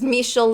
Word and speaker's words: Michel: Michelle this is Michel might just call Michael because it's CU I found out it was mishell later but it's fine mhm